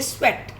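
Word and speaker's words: sweat: अब आप इसको EAT ईट नहीं बोलेंगे, यहाँ पे इसकी साउंड ए आ रही है, स्वेट.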